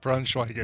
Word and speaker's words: Braunschweiger: Braunschweiger. Nailed it. And I follow have a funny suit. story too once we're done with this about Braunschweiger.